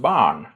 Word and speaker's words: barn: So child is pronounced barn, with a retroflex nasal.